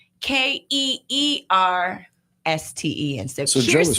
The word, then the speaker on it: Kirsten: because that matters, revealed her name is pronounced Keersten.